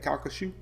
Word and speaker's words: Calcasieu: Calcasieu.